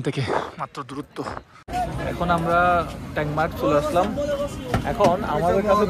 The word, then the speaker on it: ট্যাংমার্গ: ট্যাঙ্গোমার্গ ওরা বলে ট্যাঙ্গোমার্গ, লেখা দেখি ট্যাংমার্গ, উচ্চারণ আর কি ওদের।